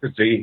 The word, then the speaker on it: Frazee: And there's this great letter that you cite from Harry Frazee, Frazee. How do you pronounce his name? Frazee, yeah.